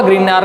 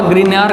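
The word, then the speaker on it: Grignard: तो ग्रीनियर नाम का साइंटिस्ट है जिसको GRI ग्रिग्नार्ड, इसका जो प्रोनाउंसिएशन है वो ग्रिग्नार्ड रिएजेंट।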